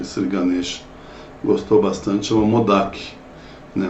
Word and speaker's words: Modak: Acho que esse Ganesh gostou bastante, chama Modak, né? Uns pronunciam Modak, já vi Modak com Uja, mas o que eu mais vejo é Modak, né? Com M-O-D-H-A-K, Modak, né?